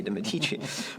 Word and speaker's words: Medici: And by the kingdom of Lorenzo de' Medici in Florence, Lorenzo de' Medici, actually, although now I'm pronouncing it in the American way, de' Medici, but when he came about, we realized that art was our thing.